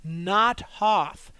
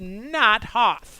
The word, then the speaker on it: Not Hoth: the icy planet of Not Hoth. I cannot stress that enough. The name of the planet is Not Hoth. I think it's pronounced Nothoth.